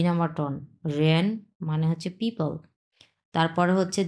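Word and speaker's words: 热: আচ্ছা, এরপরে হচ্ছে 1 নাম্বার টন ছি ছি, মানে হচ্ছে খাওয়া, এবং লাস্টেরটা হচ্ছে 4 নাম্বার টন র র, মানে হচ্ছে গরম, খুব গরম লাগছে ওর।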